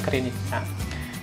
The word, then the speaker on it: Krynica: Nah ini kerjanya di daerah Krynica ya, bacanya Krynica.